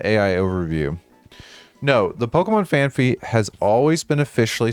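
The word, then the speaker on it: Phanpy: However, some people mispronounce it as FanFy. Do it due to a misconception about the spelling, possibly due to a Pokemon card that was reportedly misprinted.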